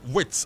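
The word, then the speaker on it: Wirtz: plus add-ons for Ber Liver and Germany midfolder or attacker Floren Vitz Floren Witz or Vitz as it's pronounced in German.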